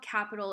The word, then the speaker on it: Qapital: opening up capital so the app is called capital is spelled QAPI tal and basically what it